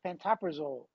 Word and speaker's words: pantoprazole: I mean, I didn't know there was, and by the way, the pronunciation is pantoprazole.